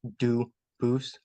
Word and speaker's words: Dubus: spelling in America, and they do pronounce it Dubus, but you said you pronounce it Dubus, Dubus? as the original Dubus, as the original French.